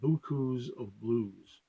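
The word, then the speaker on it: Beaucoups of Blues: second album it's called booze of blues and the reason I'm pronouncing it loses but that's how we go sings it I love that title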